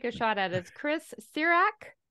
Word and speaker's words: Cirak: gonna just take a shot at is Chris sirak sirak that's that's correct there's there's no right or